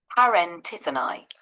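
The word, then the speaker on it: παρεντιθέναι: It's pronounced parentithonai.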